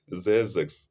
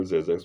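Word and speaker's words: Xerxes: Esther 3:1 as a minister of of as a minister of uh aus of a into brackets zix zex please let me spell zex for him as a minister of aos and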